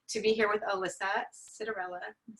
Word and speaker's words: Citarella: I am very excited to be here with Alyssa Citarella.